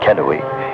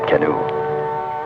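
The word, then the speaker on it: Canoe: need to know that kenoi is pronounced kenoi not canu cani din puts down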